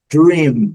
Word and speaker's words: dream: Coloquei um U aqui para a gente não pronunciar dream, porque é comum nós pronunciarmos dream, mas eles pronunciam dream. Letra N destacada por termos que fechar a boca ao final. Dream, dream. A letra A, conforme é o objeto do nosso estudo, não é pronunciada.